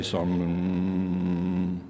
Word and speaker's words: SONM: he would tell me do I pronounce it Sun M or some and he said David think of the American Indians when they say so hmm so I'd like everybody